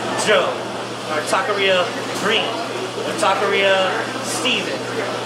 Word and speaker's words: taqueria: to it so um as far as taqueria people can't pronounce that they always say tykira or they'll be like